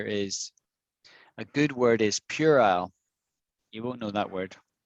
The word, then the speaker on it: Purell: a childish argument right purell so nothing to do with pure as p-u-r-e but pure owl feel right pure isle pure isle you're yeah you're saying